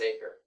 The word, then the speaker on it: Aicher: And then my last name is Aker. AICHER. Not you say it like an acre of land, but it's not spelled that way.